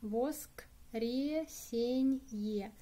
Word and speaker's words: воскресенье: In Russian, very long word. Воскресенье. Воскресенье. Stress on the е.